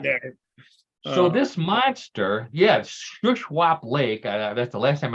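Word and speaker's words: Shuswap: from British Columbia this is uh comes from shushwap Lake uh in the Southern Southern side of British Columbia is the way it's pronounced which is basically the same thing that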